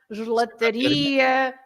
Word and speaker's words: gelataria: The words ending in ia, they are stressed at the end. So you have lots of shops, for example. You say padaria, pastelaria, gelataria, sapataria, mercearia, and so on.